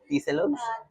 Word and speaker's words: Tselogs: Allting Lechong Kawali here po pronounce po yung pangalan niyo dito ah chelogs. Chelogs. Oo. So yung CC um yung CH sound is TS.